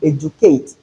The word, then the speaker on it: educate: Then we have in educate in place of letter D the J sound.